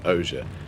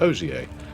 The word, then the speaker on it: Ogier: So we end up saying Osier instead of Ogier or Ogier.